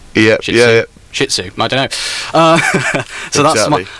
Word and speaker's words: Shih Tzu: I'm not too sure it's spelt, but it's spelled SHIH and then space TZU, so it's Shih Tzu. Yeah. Shih Tzu.